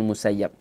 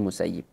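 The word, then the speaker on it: Sa'id ibn al-Musayyib: yang bernama Said Ibnul musayyib ya ada yang membacanya Said Ibnu musayyab tapi yang lebih tepat adalah Said Ibnu musayyib ini seorang tabiin beliau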